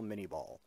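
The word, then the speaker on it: Minié ball: that bears his name, although in English we pronounce the projectile miniball.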